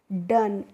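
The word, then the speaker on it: done: भी word meaning हो उसके लास्ट में अगर इ लगा है तो हम उसको प्रोनाउंसिएशन नहीं करते हैं। यानी कि उसको हमें नहीं पढ़ना होता है। इसीलिए डी ओ एन को हम पढ़ेंगे डन।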